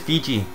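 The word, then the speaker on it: Fuji: That says F-U-J-I, though. You pronounce it Feejee. It's how the Japanese pronounce it.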